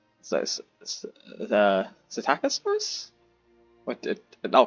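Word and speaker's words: Psittacosaurus: I think I think the p is silent. So, the Satacosaurus I'll call it a Taco Taco Tacosaurus, you know.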